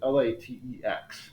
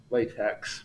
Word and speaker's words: LaTeX: language and it's called latex and the way that's spelled as l-a-t-e-x so i know that that looks like it would be pronounced latex but it's not it's latex and i can't